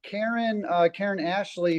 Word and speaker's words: Karen Ashley: Well, Karen Ashley, she was the Yellow Ranger.